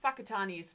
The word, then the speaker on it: Whakatane: you check out um whakatanis about w-h-a-k-a-t-a-n-e um for me to write it on screen yeah because you know sorry the pronunciation and how you spell it is is quite different I'll deal with that